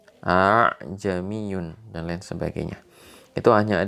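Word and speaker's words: أأعجمي: Ajmi Yun aa jami'un kalau kita mungkin orang biasa kita akan dibaca aja Myun tapi ternyata bacanya bukan begitu bacaannya adalah ah jami'un a jami'un dan lain sebagainya Itu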